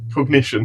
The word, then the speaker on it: Cognition: Cognition. Oh, okay. I was putting like a French Cognition or something, trying to think of it.